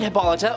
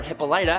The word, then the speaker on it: Hippolyta: The goddesses appointed Hippolyta, or Hippolyta, however you want to pronounce it, to be queen, and